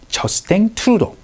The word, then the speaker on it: Justin Trudeau: 24대 지금 현재 지금 총리를 이제 매김하고 있는 져 생 투로 나는 손님을 한번 소개시켜 드리도록 할텐데 여러분 총리를